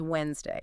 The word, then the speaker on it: Wednesday: The default, the absolute native default is Wednesday. It's a perfect example where spelling is just totally misleading for pronunciation.